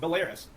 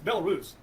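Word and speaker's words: Belarus: a part of NATO he even mispronounced the which he should right the ones Biden people think's real called it belis it's belus all right so belus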